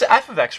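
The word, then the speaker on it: f(x): example of function notation you pronounce this guy right here f of x so you would say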